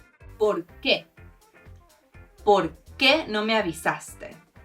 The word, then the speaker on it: por qué: Por qué ¿Por qué no me avisaste? The accent does mean you emphasize the qué and you separate the words a bit: ¿por qué?